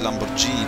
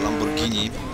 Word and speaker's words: Lamborghini: Nie mówi się Lamborghini, tylko Lamborghini. Chciałem tylko tak wspomnieć, bo nie jest to samochód produkcji angielskiej.